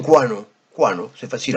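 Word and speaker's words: quanno: Donc, là, quando, ça devient quano.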